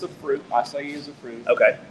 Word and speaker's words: acai: I actually don't know how to pronounce it. So Acai?